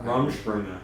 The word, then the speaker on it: Rumspringa: How do you pronounce that? Rumspringa.